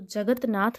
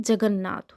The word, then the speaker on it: जगन्नाथ: शुद्ध है मनजोत नाथ तो जगत नाथ नहीं जगन्नाथ होता है कहते जगन्नाथ पुरी जाना है हमको भाई दर्शन करने भगवान के तो जगत नाथ नहीं जगन्नाथ होता है अब ये